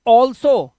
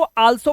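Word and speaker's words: also: जैसे ये है ऑसम, इसे पढ़ेंगे ऑल्सो। कई स्टूडेंट्स इसको आल्सो पढ़ते हैं, आल्सो, ये आल्सो नहीं है, इसका राइट प्रोनाउंसिएशन है ऑल्सो, ऑल्सो।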